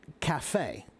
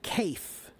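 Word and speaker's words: café: Like the word cafe, it's C-A-F-E, but we pronounce it cafe. Why? Because it's French. Okay? If it were an English word, the pronunciation would be cafe. But it's not an English word, it's a French word. So it's cafe, right?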